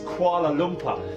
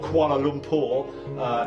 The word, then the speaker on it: Kuala Lumpur: ghosts customs here we go indeed it is Kuala lumper or Kuala Lumpur as it's pronounced correctly I think fifty four people saying